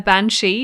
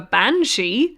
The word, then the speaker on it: banshee: It's just basically putting emphasis on a different part of a syllable in a word. Banshee. Banshee. And I think I say both.